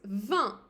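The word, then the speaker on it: vingt: an S this then for 20 it's van van and I'm pronouncing it exactly like the word wine in French van then you already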